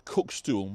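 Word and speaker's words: cuckstool: think about what a cookstool might be. And I think Marlena, probably amongst us, is likely to have an idea. So it's spelled C-U-C-K-S-T-O-O-L. A cook stool.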